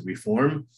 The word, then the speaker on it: Reform: was the reform movement people oftentimes mispronounce it and they add an ed to the end reformed and that's not truly accurate it's the reform movement of judaism there was an immediate